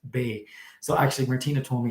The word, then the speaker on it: Bex: there's a town called bay and it's spelled b-e-x and it's pronounced bay so actually martina told